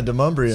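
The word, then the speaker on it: Demonbreun: Yeah, Demumbrian.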